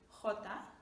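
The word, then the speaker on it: jota: next one is valero j which looks like jay but in spanish we pronounce it as hota all right it's kind of from from the throats of hota and the word i'm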